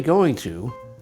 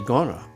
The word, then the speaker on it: gonna: When we're speaking fast, we don't say going to, we say gonna.